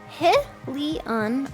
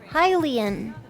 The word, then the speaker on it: Hylian: Is it oh, it is really pronounced He-Leon or Hylian. True. Which way is it pronounced, my lad? Hylian.